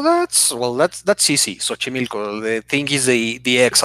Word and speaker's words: Xochimilco: yeah okay that that's kind of hard to pronounce oh that's well that's that's easy Xochimilco they think is a DX at the start